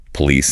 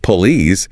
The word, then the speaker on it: police: banana or today, or if you pronounce the O in police as police instead of police, you will sound incredibly rigid, robotic.